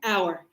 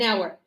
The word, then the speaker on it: hour: H is not pronounced. So, it's shh silent. So, we say an hour. An hour.